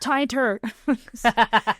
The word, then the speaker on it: Tainter: It's pronounced tinter.